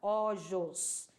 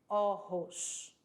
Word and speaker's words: ojos: falei para vocês que o J tem som de R lá no fundinho da garganta. Então, você não vai pronunciar ojos, e sim ojos.